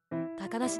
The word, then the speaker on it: 小鳥遊: なぜ小鳥遊びと書いて高梨と読むのでしょうか？